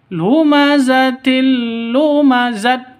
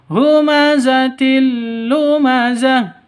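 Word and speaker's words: هُمَزَةٍ لُّمَزَةٍ: mati atau ha sukun Jangan dibaca lumazatil lumazat Salah yang betul humazatilumazah berubah menjadi He ini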